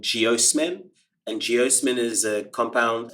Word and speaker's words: geosmin: hits, all of that geosmin is made volatile, and then we can smell it. And that is the smell of petrichor. That's great. Is geosmith, how do you spell it? Geosmin, geosmin.